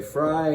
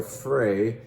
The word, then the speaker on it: Frey: is from charles frey you can say fry or frey they don't even know how to pronounce their last name kind of depends on how if you want to sound german or french because of course you're right on the german border on the french side that's charles frey i'm